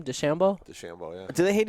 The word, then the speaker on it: DeChambeau: DeChambeau.